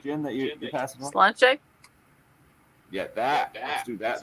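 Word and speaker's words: sláinte: Slanche?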